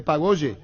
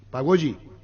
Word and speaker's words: pagode: Carullón dice, es pagoye, así se pronuncia. Pagoyi.